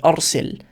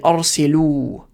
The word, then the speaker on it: أرسل: So if you're just saying it to one man, right, you just say arsil. If you're saying it to one woman, arsili. You just add this e on the end, and that's how you say it to a woman.